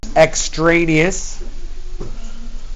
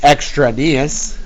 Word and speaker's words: extraneous: So x= -5 is extra nas properly pronounced extraneous. We improperly pronounce it extranius or equinox or equinox would also be an improper pronunciation of the word extraneous.